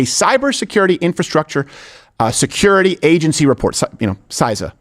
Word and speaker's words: CISA: CISA is how people pronounce it, okay?